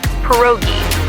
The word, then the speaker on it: pierogi: It's pronounced pierogi, a tasty dish like dumplings.